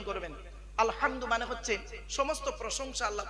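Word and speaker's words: الحمد: ঝোড়া নিয়ে হ্যালো আরো দেখেন আলহামদুলিল্লাহি রাব্বিল আলামিন আলহামদু আলহামদু এই গলার ভেতর থেকে হেটা উচ্চারণ করবেন আলহামদু মানে হচ্ছে সমস্ত প্রশংসা আল্লাহ তোমার আলহামদুলিল্লাহি রাব্বিল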